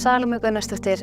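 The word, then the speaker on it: Salóme Gunnarsdóttir: been avoiding saying out of fear that I'd pronounce it incorrectly this whole time. My name is Salome Gunnarsdottir and I play Mary/Maria.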